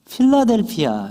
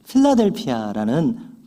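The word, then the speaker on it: Philadelphia: 것을 들어보셨을 것입니다 어이 필라델피아를 영어 성경에서 보면은 우리가 영어식으로 발음을 하면은 필라델피아 이렇게 되어 있습니다 그래서 우리가 대중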